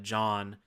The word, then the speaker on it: Jaune: Like one of the big things that you understand is that one of the characters, John, which is great because it's spelled like you're from Philly, Jaune.